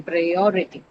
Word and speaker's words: priority: So on the second syllable, O, prior, right? O carry, priority. That's how you say.